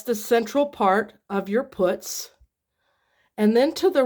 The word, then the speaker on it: putz: p u TZ now not like the word putts when you call somebody a putts which means somebody that kind of Pitt around to avoid work but uh this is